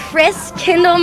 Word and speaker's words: Christkindl: She's the owner of Gunter Hans and the heart and soul of this Christkindl Market.